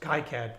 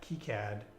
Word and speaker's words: KiCad: for sure and then there's high CAD kicad I'm gonna just say both pronunciations but if you ever